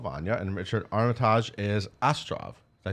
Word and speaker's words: Astrov: - Yeah, yeah, yeah, and Richard Armitage, so Toby Jones is playing Uncle Vanya, and Richard Armitage is Astrov, did I say it right, Beth?